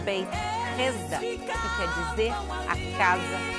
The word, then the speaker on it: Beit Hesda: Aqui, a poucos metros do Portão dos Leões, a gente já encontra a entrada de Betesda, ou como se pronuncia em aramaico, Beit Hesda, que quer dizer a Casa da Misericórdia.